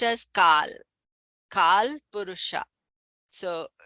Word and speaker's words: kala: So here although this is written as kala k a l a uh kala means black kal it should be pronounced as kal kal purusha.